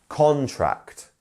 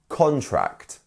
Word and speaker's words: contract: two syllables um and the main stress is on con contract contract um and we also have another word to contract which is the verb for uh which is the verb meaning to get some kind of illness or something to contract a virus um and that is very different that is where the stress is actually on the second syllable so it's very important